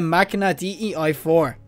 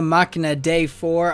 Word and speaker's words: Machina Dei: And the next pulse I'm going to be doing right now is the Machina DEI 4. Or the Machina Dei 4.